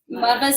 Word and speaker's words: Muvas: But we're Muvas and shakers as well.